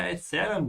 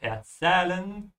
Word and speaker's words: erzählen: Au, ich werde Mok Chotra von dir erzählen, Drusilla.